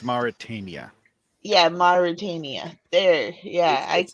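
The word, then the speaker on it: Mauritania: Um, our next mission is taking place in Marutania. I think I said that right. Um, um, I didn't speak Russian. I think it's pronounced Maritania.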